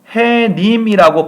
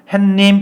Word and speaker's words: 해님: 발음하는 경우가 많 냐하면 해님 이라고 발음하지 않고 요 중간에 단 이윤을 집어 넣어요 햇님 이렇게 바람 한다고 햇님 요런 것들이 4일 소리가 들어갔다 라고 하는데요 첨 정의처럼 파생어 에서는 사이 소리 발음이 나지 않습니다 그러니까 요 발음은 잘못된 발음 이구요 정확한 발음은 그냥 해님이 라고 발음하는 것이 맞는 발음입니다 그래서 사이소 현상 의